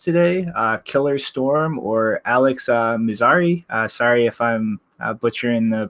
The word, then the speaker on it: Mizrahi: a special guest today killer storm or Alex mazar-e sorry if I'm butchering the pronunciation in your last name there but uh welcome aboard guys hi yeah Mizrachi yeah what that was good enough all right